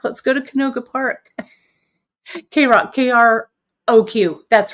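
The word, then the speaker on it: KROQ: K-Rock, K-R-O-Q. That's right. Thanks, Kim. For some reason, I couldn't spell it.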